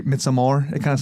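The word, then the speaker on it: Midsommar: He calls it Misamar.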